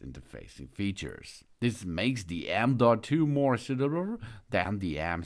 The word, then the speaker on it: M.2: the M 0.2 the end point two it's pronounced m.2 and formally knows as the Next Generation form